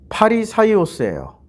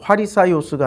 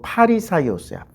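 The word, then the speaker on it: Φαρισαῖος: 자, 바리새의 발음을 보면 파리사이오스예요. 이거 옛날 그 화리사이오스가 아니고 파리사이오스야. 파리사이오스.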